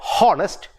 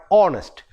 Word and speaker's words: honest: it starts with honor same way h-h-o-n-e-s-t it is not honest but honest but malayali speakers of